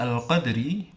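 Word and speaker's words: القدر: Cara membacanya dengan cara dipantulkan tapi tidak terlalu kuat.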